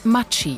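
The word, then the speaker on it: Maggi: Jahrhunderts in kemtal gebaut der Firmenname wird historisch richtig italienisch mai ausgesprochen denn die Gründerfamilie stammt aus Norditalien bis heute ist die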